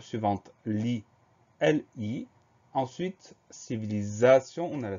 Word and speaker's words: civilisation: Ensuite, civilisation, on a la syllabe za. Le son z s'écrit avec un S tout simple parce qu'il est entouré de deux voyelles.